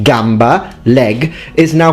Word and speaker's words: gamba: and crazy i mean everyone knows it's pronounced gamba and kieza but for future italians